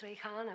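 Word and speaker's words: Rejhana: It's like Rihanna. It's Rihanna, but you pronounced it well.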